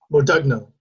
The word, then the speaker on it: Modugno: past heritage and uh you said your grandfather changed your pronunciation or your name to make it a hard d and a hard g how do you pronounce it now yes um so so when i was growing up as a kid we always said our name is odugno but in reality what